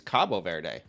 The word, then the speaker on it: Cabo Verde: You You haven't because you said it wrong. It's Cabo Verde.